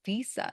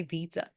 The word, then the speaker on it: visa: And then the second one is visa. Sometimes they say visa visa. Visa both are acceptable.